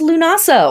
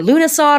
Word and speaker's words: Lughnasadh: All right, August 1st, that's Lughnasadh or Lughnasadh or Lammas. It is pronounced a bunch of different ways, also called Loaf Mass and Freyfest or Freyfaxi.